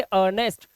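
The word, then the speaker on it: earnest: अर्नेस्ट तो आपने देखा इन तीनों वर्ड्स के अंदर ई का जो उच्चारण है वह है ही नहीं और रीजन सिर्फ यही है कि अगर किसी शब्द के अंदर ई के बाद ए आर आता है तो आपको ई का साउंड नहीं बोलना होता चलिए रूल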